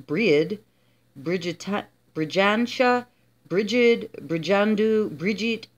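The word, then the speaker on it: Brighid: with many goddesses breed as many names breed pronounced breed Brig briena bridgid brandu Bridget and was taken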